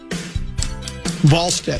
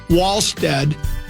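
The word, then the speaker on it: Wallstedt: Volstead. Is it volstead? It's spelled like wall but it's pronounced like v.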